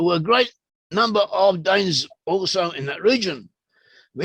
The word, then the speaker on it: Dan: with dan or dawn in hebrew the pronunciation of the name dan can also be dawn so it's a dialectical